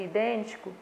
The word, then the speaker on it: idêntico: A penúltima sílaba de idêntico é uma sílaba átona. A antepenúltima sílaba de idêntico é uma sílaba tônica. Por isso eu digo que a classificação dessa sílaba tônica aí, por estar na antepenúltima sílaba, ela é classificada como proparoxítona, tá bom?